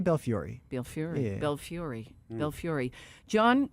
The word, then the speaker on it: Belfiore: And what do you I'll pronounce tell- the E? I'll say Belfiore.